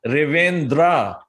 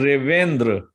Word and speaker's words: Revendra: And when people pronounce it, they have a tendency to elongate that the A at the end of it. And they say Revendra. Right. Instead of just saying Revendra.